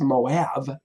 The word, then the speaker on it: Moab: land used to be Moab and it's it's pronounced Moab that land used to belong to Moab and